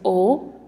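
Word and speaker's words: aux: A and le, we should remember, becomes o. It's pronounced o, same as here, o, even though there's an x at the end.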